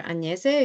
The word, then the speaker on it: Agnese: So as Iñigo mentioned, my name is Agnes, or Agnese, if you can pronounce it in an Italian way.